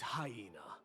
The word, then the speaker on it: hyena: It means hyena. I'm likening you to a weak hyena. By the way, you emphasize the completely wrong syllable. Hyena.